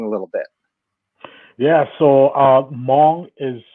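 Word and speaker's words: Hmong: with them long a little bit yeah so mom is spelled HMO and he were a small Asian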